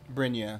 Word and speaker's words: Brynja: Brynja, that's how you pronounce it.